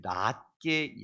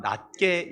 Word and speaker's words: 낫게: 봅시다 시작 나보다 남을 낮게 여겨야 합니다 발음을 잘못하면 낮게 여긴다 그러면 내가 높고 상대는 낮출 수 있는 그게 아니잖아 낮게 여긴다 발음을 잘 아셔야 됩니다 공경하라고 그러니까 공격하지 말고